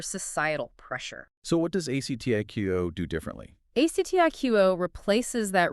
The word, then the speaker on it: ACTIQO: It's pronounced ACTIQO.